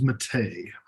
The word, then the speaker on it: Mattei: It is Mattei.